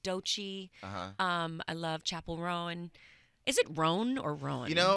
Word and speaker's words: Rowan: think it's technically Roan. Roan. Yeah. But I tend to yeah, want yeah. to say Roan. Rowan.